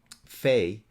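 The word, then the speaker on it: fae: at michigan state university fey fair and fairs fey is spelled f-a-e-f-a-e-r and e r f-a-e-r-s i don't know about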